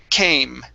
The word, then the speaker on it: came: instead of ken okay the e is silent at the end came came home all right